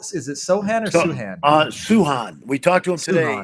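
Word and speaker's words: Sochan: you know so uh jeremy told me today it's suhan suhan jeremy suhan and by the way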